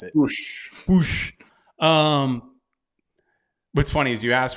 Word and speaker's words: Puig: The word is that Ricky Push. They that's how they say it. That's kind of how they pronounce it. Push.